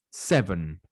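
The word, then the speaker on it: seven: six continuamos con el número 7 que también es muy similar a cómo se lee cern severn si se dan cuenta y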